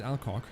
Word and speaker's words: Alcock: Exactly, I shouldn't pronounce that badly. Well, his name is Alcock.